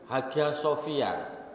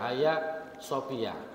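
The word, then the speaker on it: Hagia Sophia: di situ ada namanya hag Sofia kalau orang Spanyol bacanya bukan hag Sofia apa ya haya Sofiah itu dulu masjid kemudian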